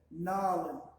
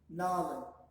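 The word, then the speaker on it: nalën: Nalin. You kind of drag out the middle A's a little bit. Nalin. Nalin.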